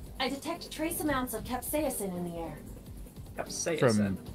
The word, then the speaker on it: capsaicin: I detect trace amounts of capsaicin in the air. Capsaicin. From, that's how that's pronounced.